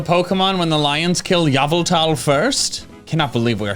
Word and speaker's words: Yveltal: And in fact, it has been so ingrained in my head that when I hear people pronounce it Yveltal or Yveltal, whatever, my gut reaction is, wait, that's wrong.